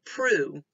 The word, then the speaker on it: pru: If you said prue, that would be right. It's an open syllable, right? There's no consonant after the U. So that U is going to say its name.